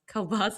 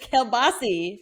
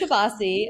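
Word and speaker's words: kielbasa: ] about you is how you pronounce Kbas because it's Kbasi. Okay. It is Kabasi. I have been confirmed by other Pittsburgers that it is Kapasi and Kabasi is the plural form of kilbasa kbasa.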